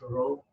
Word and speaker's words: rho: that by the Greek letter Rho this is Rho okay we need to pronounce like Rho so you have to write